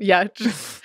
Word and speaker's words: Giertz: Pronouncing my last name, Yatch.